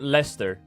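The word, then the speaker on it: Leicester: You have you have the the the city this right and you you pronounce it Lester.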